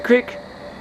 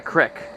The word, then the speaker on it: creek: It's a creek. Not a crick. A creek. People in Pennsylvania call it a crick.